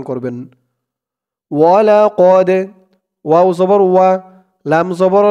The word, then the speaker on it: ولقد: ওয়ালাকদ, ওয়াও জবর ওয়া, লাম জবর লা, ওয়ালা, কফ দাল জবর কদে, ওয়ালাকদে। এই দালটা হচ্ছে কলকলার হরফ, ধাক্কা দিয়ে পড়তে হবে।